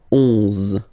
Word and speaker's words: onze: 11, okay, so O plus N give you the sound on, onze, onze, okay? Final E doesn't exist phonetically, onze, okay?